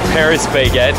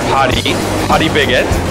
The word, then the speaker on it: Paris Baguette: The one over there, as you can see, we would read Paris baguette in English, but Koreans pronounce it more like Parisians do, which is Paris baguette.